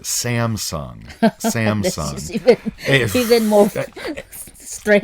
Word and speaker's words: Samsung: so some superhuman but the korean is is some sun some americans pronounce it samsung samsung he's in mocha